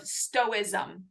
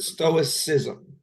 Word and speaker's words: stoicism: what is this philosophy of stoism did I do it right the stoicism stoicism look at that pronunciation